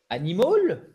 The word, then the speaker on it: animal: Accent tonique, et c'est le gros piège pour nous francophones sur ce A. Et c'est pas un animal, ok? Parce que c'est super tentant Mm-mm, mm-mm. de faire un H.